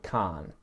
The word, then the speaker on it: can't: It's the vowel sound, it's the vowel. So the first one, can, and the second one, can't. can't, can't. And that's the same vowel sound in the first one as plan, dance, chance, it's that sound. In the second one, it sounds like car or bar or star, and air.